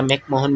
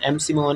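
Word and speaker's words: McMahon: उसके बाद boundary between Pakistan and China के बाद एमसीहन या मैकमोहन भी इसे प्रोनाउंस किया जाए। सही कर सकते हैं। आप एमसी मोहन या फिर मैकमोहन।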